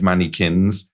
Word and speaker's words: mannikins: The shape it's spelled MANNIKINS. Yeah, I pronounced it. Mannequins. Okay. Mannequins. I just want to make it clear it's not like shop mannequins. No, it's more like ramekins. The little things that you get puddings in.